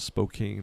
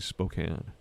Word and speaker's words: Spokane: Spokane yeah a lot of people have not pronounce it Spokane but it's actually Spokane Spokane Washington we C we call my sister